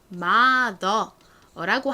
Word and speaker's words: mother: 한국식 발음으로 표기를 할 때에는 보통 그냥 mother라고 하는데 사실 미국식 영어 발음으로 하면 리을 받침이 들어갑니다. 자, mother, the에서 the 발음은 th로 표현을 하죠. th. 그리고 소리는 이를 쓰고요. 그 다음에 리을 받침 mother, the 이렇게 혀가 뒤로 목구멍 쪽으로 꼬부라지죠. 그러면 L과 R 중에서 어떤 알파벳을 써주셔야 될까요? R을 써주셔야 합니다.